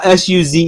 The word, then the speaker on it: Suze: How do you call SUZE? Is that Susie or Suisse or how do you say that? Oh, Suze. Suze.